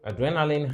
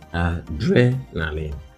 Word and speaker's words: adrenaline: we consider the options adrenaline in orthography it is stressed on the capital letters there and in transcription correspondingly on the second syllable so adrenaline not adrenaline by the way this is not so adrenaline second syllable all right so adrenaline